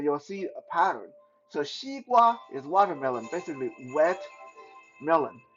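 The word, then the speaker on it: 西瓜: Watermelon in Mandarin is called xi gua. Xi gua, that's like XE. Xi is pronounced xi, and gua, GWA, like gua, like in guava.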